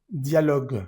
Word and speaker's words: dialogue: Problème avec un produit acheté dialogue. Fíjate que aquí está la e al final. Vamos a decir dialog. Al final la e en francesas eh al final de las palabras no suena.